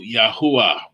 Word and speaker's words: Yahuwah: And again, the psalm declares the glories of the communication of the eternal Yahuwah, which is how we pronounce the sacred name of the eternal Creator, who was, who is, and who shall be, all glorious through eternity.